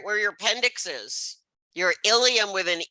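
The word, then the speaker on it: ileum: The words sound exactly alike, ilium and ilium. So you have to look at the spelling, and you see ilium with an E refers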